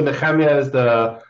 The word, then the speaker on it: Nehemia: Yeah, so Nehemia is the pronunciation I grew up with.